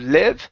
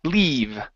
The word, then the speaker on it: leave: Let's practice the long E sound here. Instead of live, it's E, leave.